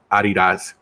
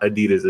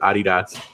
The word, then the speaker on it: adidas: made sure that we knew that the correct pronunciation was Adi dots it was not adidas as Adi dots that's annoying yeah okay who was well who